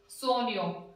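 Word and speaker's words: sogno: ओ जी एन ओ, सोनियो। तो यहाँ पे जी एन आ गया, जी एन के में न की ध्वनि आ रही है ना, सोनियो, सोनियो मीन्स होता है यहाँ पे सपने।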